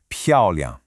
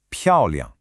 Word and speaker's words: 漂亮: The first syllable, 漂, has a fourth tone. Now, you'll remember the fourth tone is that sharp, decisive drop in pitch. Think of it like a quick, firm chop. Down. So, 漂. Got it? Now, the second syllable, liang, is what we call a neutral tone.